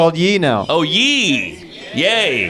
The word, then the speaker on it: Ye: now this show in pronounce yay not ye this guy leaked the